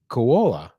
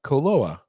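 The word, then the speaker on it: Koloa: very distinguishable flavored rums um those rum even KOA uh coloa sorry I said it wrong coloa from Hawaii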